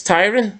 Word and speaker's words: Tyrion: It's Tyrion.